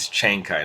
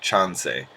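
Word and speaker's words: Chancay: The pronunciation is Chenkai, not Chansei.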